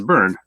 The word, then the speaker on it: Byrne: I don't know how to pronounce his name. Is it Byrne? Yeah, it's Byrne.